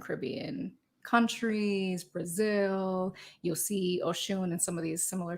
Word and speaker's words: Oshun: I'm never mad when people are like, it's ocean sound. I'm like, well, it's water, but it's Oshun.